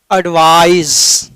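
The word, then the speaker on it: advise: तो यह होनी चाहिए तो साहब इसको पड़ते हैं एडवाइज और इन दोनों में अंतर है यह नान है वो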